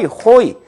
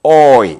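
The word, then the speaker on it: hoy: 또 하나 뭐 오이 이런 표현들을 호이 새 쫓는 소리가 나온 것이 아니고 오이 이렇게 해 나가면 되겠습니다.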